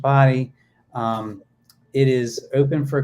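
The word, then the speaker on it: Bodie: lighthouse so it's it's spelled bod and it's pronounced body um it is open for climbing it opened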